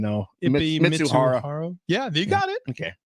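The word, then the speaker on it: Mizuhara: Mitsuhara.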